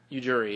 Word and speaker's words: Ujiri: Ujiri, yeah.